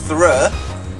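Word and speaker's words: Throh: Also in here there's another fighting type you can find, which is a Thrur. It's spelled T-H-R-O-H.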